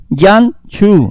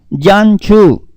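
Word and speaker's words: ים סוף: El nombre hebreo del mar rojo es Yan-Chu. Oiga bien. Y-A-M-S-Su-F. Yan-Chu. Que quiere decir mar de cañas. Escuche bien cómo se dice en hebreo Yan-Chu.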